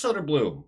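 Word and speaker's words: Söderblom: good for the kid sod Bloom sod Bloom I guess it's sod Bloom that's how they are pronouncing it so I'm going to default to that he's in net for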